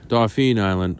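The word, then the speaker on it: Dauphin Island: Dolphin Island, although it's spelled Dolphin Island, was something of a highlight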